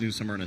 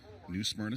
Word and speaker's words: New Smyrna: Yeah, very fortunate for two-time champion of 602 modified season-long competition at New Smyrna Speedway, Christopher Hatton.